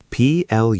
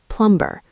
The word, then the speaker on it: plumber: And the final word in our emergency kit is plumber. P-L-U-M-B-E-R. But be careful with the spelling. Yes, there is a letter B in this word, but it is silent. We do not say plumber.